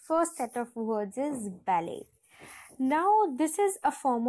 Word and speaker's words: ballet: the correct one is ballet right so you do not at all pronounce the T in the end it's silent completely silent and the second s